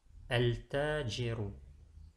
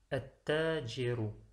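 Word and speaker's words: التاجر: À droite, le lemme est lu, ce qui donne al-tajiru. À gauche, le lemme n'est pas lu. Le ta prend la shadda, le mot se lit alors at-tajiru. Et c'est cela qui est la bonne prononciation.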